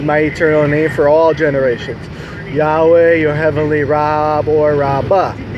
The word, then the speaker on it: Yahweh: four letters yhw H they say well we don't know how to pronounce it well that sex is like me lying at you and say I don't know how to pronounce mark but yeah I speak English and English we know says mark just like in English we know it says Yahweh so this is the